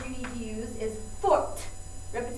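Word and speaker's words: forte: but the word you need to use is Fort remember say Fort it gets an e added listen very carefully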